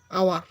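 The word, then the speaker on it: hour: Hair এখানে for dash আওয়ার আওয়ার এটি কনসোনার দিয়ে শুরু হয়েছে কিন্তু এর উচ্চারণ ভাওলের মত হয়েছে তাই এর পূর্বে এন ব্যবহার করতে হবে ফর এ আওয়ার আমি এখানে এক ঘন্টা যাবত দাঁড়িয়ে ছিলাম।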